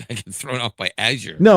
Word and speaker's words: Azure: And now it may have something to do with Azour or Azure, however the hell you're supposed to pronounce it. Uh, it's actually Azure.